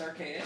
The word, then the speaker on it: Arcaeus: Oh, so for my personal project, I got under the moniker Arcaeus. Where can they find you? We'll do that. You do all that my too. my social media handles is it's Arcaeus. Spell it.